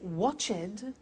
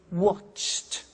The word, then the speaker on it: watched: T we don't say watch it we eliminate the e and we say watched okay interesting hey so